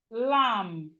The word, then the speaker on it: lamb: We have lamb. Lamb. Even though we have B here, the B is silent and it's not lamb.